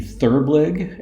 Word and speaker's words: therblig: Together they developed the notion of the therblig and you'll notice that is Gilbreth pronounced backwards.